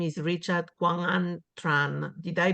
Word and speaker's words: Richard Quang Tran: Richard Tran is so his full name is Richard Quang Tran. Did I pronounce well, Richard?